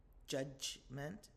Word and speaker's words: judgment: Judgment. It's got that j sound in the middle. Judgment.